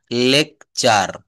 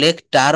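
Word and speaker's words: lecture: এটা কিন্তু লেকচার। এটা লেকটার বলি না।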